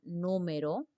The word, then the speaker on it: número: Tenemos también la palabra número, número, ¿no? La palabra número, miren aquí, última, penúltima, antepenúltima sílaba.